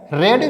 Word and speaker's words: read: You could have रेड, देखिए यहाँ पे रीड की स्पेलिंग फर्स्ट फॉर्म, रीड की फर्स्ट फॉर्म भी यही होती है, READ, रीड। और इसको सेकेंड फॉर्म और थर्ड फॉर्म क्या पढ़ा जाता है? रेड, रेड, रेड, रीड, रेड, रेड, रीडिंग्स, रीड्स।